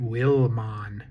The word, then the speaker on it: Wilmon: His name is Wilmon. Pronounce it Wilmon.